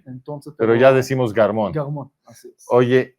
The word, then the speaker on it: Garmon: Así es que originalmente es Germó, porque mi papá nació en Túnez. Ah, ok. Entonces, pero ya decimos Garmon. Garmon, así es.